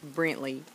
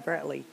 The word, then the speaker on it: Brantley: n t l e I knew it it's Brantley well I was calling him Brentley he didn't know about touching that at first